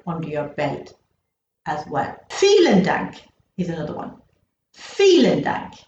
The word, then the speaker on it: Vielen Dank: You're noticing again that vielen sounds as if it's starting with the letter F, but it's not. It's starting with the letter V. Because if you remember from a previous lesson, I said that all these are pronounced like Fs.